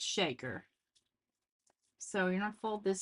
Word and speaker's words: Shaker: And he said people want to pronounce it Shakar, and he's not mad, but it's Shaker.